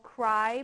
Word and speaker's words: Cry: So the proteins are called CRY proteins after crystal. Okay, they're usually pronounced cry not cre.